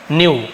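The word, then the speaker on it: knew: से ही जानती थी के साइलेंट रहता है न्यू क्नो जैसे क्नो नहीं बोलते नो बोलते हैं के एन ओ डब् नो नो यानी जानो सेकंड वम कन्यू तो इसे कन्यू नहीं पढ़ते न्यू पढ़ते हैं तो क्नो कन्यू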